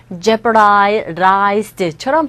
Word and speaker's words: jeopardized: jeopardize 여기서도요 D음 자체가 모음 사이에 있기 때문에 아래 가깝게 들려서 jeopardized처럼 발음이 됐죠.